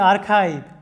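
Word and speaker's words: archive: তারপরে আর্কিটেক্ট, লক্ষ্য করো আর্কিটেক্ট, স্থপতি বা নির্মাতা, আর্কিটেক্ট, এখানে লক্ষ্য করো সিএইচ এর উচ্চারণটা কি হয়েছে ক এর মতো হয়েছে। এরপরে দেখো যে আর্কাইভ, সংরক্ষণাগার।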